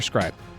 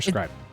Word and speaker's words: Scrib: Yes, Commander Scribe. Or sorry, Commodore Scribe. It's Scrib. Scrib. There's no E at the end.